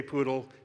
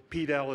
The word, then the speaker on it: PDAL: the feet so Lo the logo says poodle I'll probably say poodle pedal is perfectly fine we accept all pronunciations now now once you've